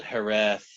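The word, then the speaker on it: hiraeth: There is a word in the Welsh language that I just recently learned called hereth, or I'm not sure if I'm pronouncing it right.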